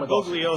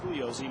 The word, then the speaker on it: Bugliosi: As long as I'm not saying It's not Bugliosi. Bugliosi, right? Yeah.